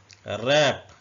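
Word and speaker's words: wrap: है तबाही या किसी चीज का टूट जाना रप रप का मतलब होता है लपेटना रेस्ट रिस्ट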